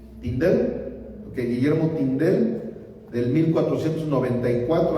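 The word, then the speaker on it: Tyndale: Uno que fue Guillermo, ¿cómo se pronuncia? Tindado. Tindel.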